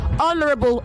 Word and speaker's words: honorable: education okay pay attention honorable the age in honor and honorable including honest is silent okay honorable honor honest all right